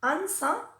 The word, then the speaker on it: answer: always, always, o airways, a veces también es muda y no se pronuncia, como por ejemplo en la palabra answer o you.